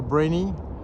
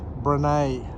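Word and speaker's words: Brené: get her name wrong i used to call her brainy but i've since learned that her name is pronounced brene so brene brown he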